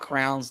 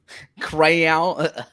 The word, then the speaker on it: crayon: Did I say it incorrectly? Crowns? Crayon. We're 8 minutes in and we're already dissecting my pronunciation. Say the word that you color with. Yeah. Okay. I guess I call them crowns. Like crayons.